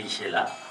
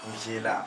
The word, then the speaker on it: Inch'Allah: Il faut bien prononcer, hein, c'est Inch'Allah. Inch'Allah.